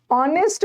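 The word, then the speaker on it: honest: शिखा नाम था okay ऑनेस्ट में ऑनेस्ट में एच साइलेंट है नेस्ट नहीं है ऑनेस्ट ओ आ रहा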